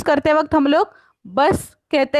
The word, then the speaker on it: Bus: English में लिखते वक्त हम लोग, इंग्लिश में प्रोनाउंस करते वक्त हम लोग बस कहते हैं, उसका स्पेलिंग भी सेम है, बट जर्मन में प्रोनाउंस करते वक्त देर बुस. बुस.